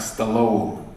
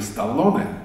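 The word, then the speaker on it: Stallone: Не знаю, может, это просто моё личное мнение, но вы же знаете, что американцы произносят его фамилию как " Сталун". Не Сталлоне, а Сталун.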